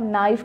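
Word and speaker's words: know: जैसे कि आप नाइफ़ की बात करो, नो की बात करो तो वहाँ पे K साइलेंट है।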